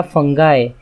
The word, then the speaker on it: fungi: तो सबसे पहले इंट्रोडक्शन कि किंगडम फंजाई क्या होता है। तो फंजाई या फंगाई, बहुत सारे लोग अलग अलग प्रोनाउंस करते हैं, कुछ भी प्रोनाउंस कर सकते हैं।